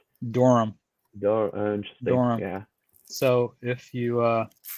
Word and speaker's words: Durham: oh is it and just how do you pronounce doram yeah so if you uh so oh what's